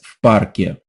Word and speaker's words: в парке: We add that f sound before the word park and add the ye sound at the end. В парке. Я сейчас в парке. That ye sound is very important.